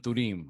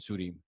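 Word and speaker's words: Thummim: We just started talking about Urim and Thurim, which I pronounced wrong when we were talking. I pronounced it Urim and Surim. But Urim and Thurim are fortune-telling stones that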